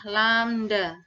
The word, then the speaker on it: lambda: Cara membacanya adalah lambda.